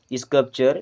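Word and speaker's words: sculpture: स्कल्पचर, देखिए एल यहाँ पे साइलेंट होता है एंड इसे हम पढ़ते हैं स्कल्पचर। स्कल्पचर होता है लेकिन स्कल्पचर पढ़ते हैं।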